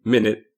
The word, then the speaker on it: Minit: The basic mechanic conceit of the game is that, like the name, Minit, even though it's not spelled the same, it is spelled M-I-N-I-T, you have 1 minute to play.